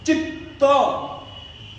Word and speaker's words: चित्त: जैसे कि यहां पर चित्त डबल त है, चित्त, तो जो अक्षर आपको